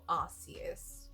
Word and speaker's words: Arceus: Okay, it's called Arceus.